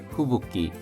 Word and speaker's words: 吹雪: 후붓기 후쿠와 육기가 합쳐져서 발음이 후붓기가 되었습니다.